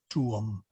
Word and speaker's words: tuum: You may slur some of those together, but it should be split out, tuum, if you're speaking clearly and distinctly.